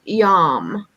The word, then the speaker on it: yam: It's called a seed mantra, and it is pronounced yam, Y-A-M. And that's something you can chant to help balance the heart chakra. It'd be something like yum.